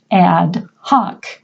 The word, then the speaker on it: ad hoc: You will hear them pronounced in American English. The first one is ad hoc.